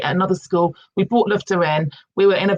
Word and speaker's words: Lyfta: So it's Lifta is Lyfta. It's the Nordic word for lifting, to lift.